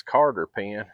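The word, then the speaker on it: cotter pin: I know it ain't how it's spelled but that's the way you pronounce it when you're in the south.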